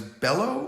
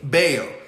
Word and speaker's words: Bello: uh yesterday that was bello or balo bao uh b-e-l-l-o right yep yeah but the way they pronounce it yeah two l's in it two l's in spanish is what a y yeah um now he